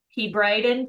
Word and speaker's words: Hebridean: it please let me know I think it's pronounced he Brien he Brien thank you it's Scottish okay perfect good morning